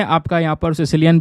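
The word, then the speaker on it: caecilian: तो ये जो दोस्तों यहाँ पर एम्फीबियन है इसको हम बोलते हैं सिसिलियन। ठीक है, इसका कुछ स्पेलिंग इस तरीके से आपको नज़र आएगा, प्रोनाउंसिएशन इसका सिसिलियन ही यहाँ पर किया जाता है।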